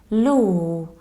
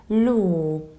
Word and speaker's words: law: It's just a long O, law. Whenever you have final AW, you need to pronounce it like a long O, like claw or draw or straw. That's why here you need to say law.